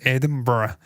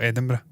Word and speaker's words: Edinburgh: got a headquarters in Edinburgh as well we call Edinburgh but I know people in the United States like to say all manner of bastardized pronunciations Edinburough and Edinburg edur just Edinburgh Rockstar Games is founded